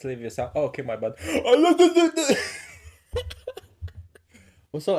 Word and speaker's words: Leviosa: It's not Leviosa, it's Leviosa. Oh, okay, my bad. Also, I love how you pronounce it like that.